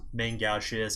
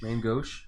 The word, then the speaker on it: main gauche: kind of considered around the tables look that main gouges and essentially it's it's kind of a code